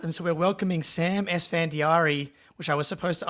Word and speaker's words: Esfandiari: of a curveball and so we're welcoming Sam sandari which I was supposed to ask you if I was going to pronounce that correctly before we hopped 10 out